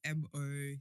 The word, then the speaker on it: MoChunks: So Mo, as in chunks, as in tuna chunks, on everything: YouTube, Instagram, TikTok, Twitter.